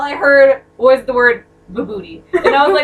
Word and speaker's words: Vibhuti: Crescent moons, snakes, tiger skins, and I think this is pronounced vibhuti, but don't quote me on that.